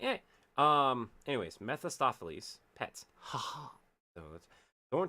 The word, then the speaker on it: Mephistopheles: impressive brawl against the worst of I can pronounce this name in my head. Mephistopheles. Mephistoapothe.